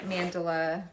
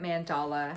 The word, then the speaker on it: Mandala: This is Sunflower Mandela. Sunflower Mandala, however you want to say it. It's pronounced both ways.